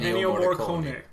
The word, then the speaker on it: Ennio Morricone: Ennio Morricone.